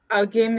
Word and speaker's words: alguém: Alguém is not a good example because it's this alguém is the same. The U is not pronounced.